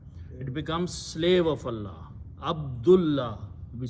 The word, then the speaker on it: Abdullah: Now, name, okay, when you stop here, you can say Abdullah, okay? You can pronounce Abdullah, but it has to be written Abdullahi.